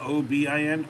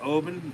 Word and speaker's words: Oban: Not Obin, Oban, Oban, Oban.